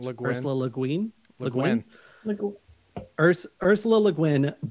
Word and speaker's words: Le Guin: Ollie says, Ursula, how's the last name pronounced? Le Guin. Ursula Le Guin?